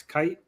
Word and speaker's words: Keith: proof that the guy his name is max kite though it's spelled keith uh he used a